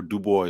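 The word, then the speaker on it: Du Bois: I'm not a big fan of dubo or dubo I should say because that's how he always said to pronounce it but he had a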